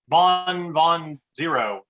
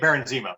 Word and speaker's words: Baron Zemo: the other episodes uh vaughn von zero am i pronouncing that correctly aaron zeno yes thank baron zemo thank you with what